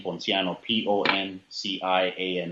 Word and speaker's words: Ponciano: that is my first name and it's pronounced but once again B RA Y a and D and my last name Ponciano people and CI a and no once again